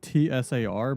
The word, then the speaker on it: tsar: It's T-S-A-R, but you say Tsar. Because TS doesn't actually make a sound.